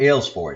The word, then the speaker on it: Aylesford: philip aylesville ford or ailes ford is how you would pronounce it in english philip aylesford and he was a